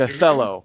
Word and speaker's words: Othello: first shows i played othello right so in the show playing with the show othello yeah it's what's otello actually but it's spelled othello yeah so in the